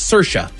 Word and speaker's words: Saoirse: Yeah, you see this is the same way. It's Saoirse.